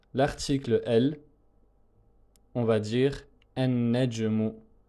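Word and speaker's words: النجم: Et lorsque on lui ajoute l'article el, on va dire an-najmu, an-najmu. On ne prononce pas le lam et on dédouble le nun avec la shadda, ce qui donne, si on détaille la prononciation, cela donne ceci.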